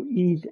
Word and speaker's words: Ys: playing E I know it's spelled YS but pronounced YZ like e a se so YZ 8 forgot the title of it already uh